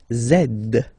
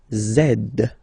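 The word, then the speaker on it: zède: and the last one zed zed okay so remember to pronounce this D at the end zed zed okay so let's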